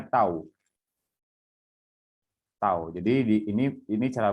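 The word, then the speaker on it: τ: Nah, ini seperti huruf T ya, seperti huruf T. Ini dibacanya tau.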